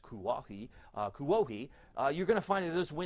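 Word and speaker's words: Kuwohi: a Klingman's Dome, which is now, I guess, pronounced Kuohi, you're going to find that those winds are going to be stronger in the tops of the mountains.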